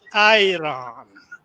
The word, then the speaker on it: Iran: They pronounce it Iran, which is the Aira.